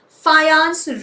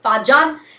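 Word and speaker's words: Fajans: His name is not pronounced as Fajan. It is pronounced as Fayons, everybody.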